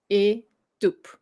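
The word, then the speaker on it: étoupe: You don't put the emphasis on the E, but you still pronounce the syllable. So it's 3 syllables. E tup.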